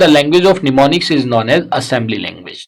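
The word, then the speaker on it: mnemonics: तो the language of symbols और निमोनिक्स, देखिए निमोनिक्स में एम साइलेंट होता है, निमोनिक्स is known as assembly language, is known as assembly language.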